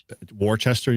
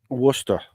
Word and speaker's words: Worcester: Warchester. You mean Worcester? You got to say it like you're from Boston.